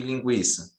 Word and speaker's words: linguiça: Só porque na sílaba, quando não tinha o trema, na sílaba você não falava, você não pronuncia o U. E quando tem o trema, era para indicar que o U era pronunciável, né? Você conseguia ouvir a letra U.